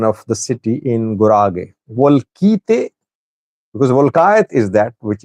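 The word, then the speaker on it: Wolkite: What is the correct pronunciation of the city in Gurage? Volkite, because Volkayat is that which is in western zone, Humera Volkayat Sagad.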